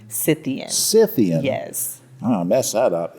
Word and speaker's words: Scythian: Now, help me pronounce this. Is it Scythian? Scythian. Scythian.